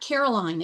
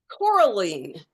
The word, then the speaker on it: Coraline: It's not Caroline, is it? It's Caroline? No, Coraline. Coraline. Think about the color coral.